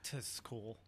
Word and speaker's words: TTT Cool: It's pronounced Tis Cool.